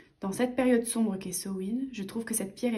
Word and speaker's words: Samhain: Ensuite, nous avons le petit livret Histoire de Samhain. Donc, Samhain, qui se prononce Sa-win ou So-win, se fête le 31 octobre, dans l'hémisphère nord.